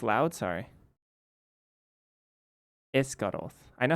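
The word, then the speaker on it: Esgaroth: Oh, this the pronunciation oak gateway esgos Ess it's loud. Sorry. Escaroth.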